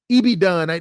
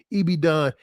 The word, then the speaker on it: Ibadan: Ibadan. They always say I say it wrong. Ibadan.